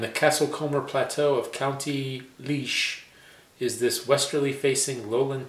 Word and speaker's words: Laois: Leash.